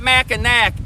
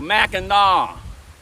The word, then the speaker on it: Mackinac: It's not Minac. It's Mau. The C is pronounced like a W. Minaw M.